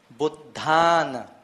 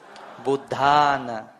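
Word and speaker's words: Buddhāna: Buddhana. The D and the DH, they are two different letters, two different consonants. So the H is audible, is Buddha. Buddhana.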